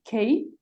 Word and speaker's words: Kay: A gente convidou a Jane Kay, é assim que pronuncia, Jane?